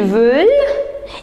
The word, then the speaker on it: veulent: So, ils veulent. Remember, we don't pronounce ENT. So, ils veulent et elles veulent. Allez, on répète.